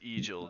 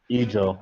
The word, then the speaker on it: Egil: I'm pretty sure the treasurer doesn't know who Eagle is at this point, but His name is Egil, just so you know. Eagle. I'm saying it wrong, right?